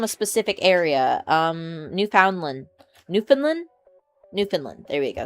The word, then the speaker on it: Newfoundland: Newfoundland. There we go. Sometimes I mispronounce it because I think of the dog breed.